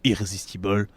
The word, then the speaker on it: Irrésistible: campagne irrésistible n'y a pas d'actes forts donc il faudrait la prononcer à l'américaine irrésistible bon bref irrésistible parce